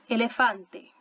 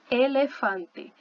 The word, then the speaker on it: elefante: Então, aqui, nessa palavrinha, a gente vai falar elefante, ok? Elefante.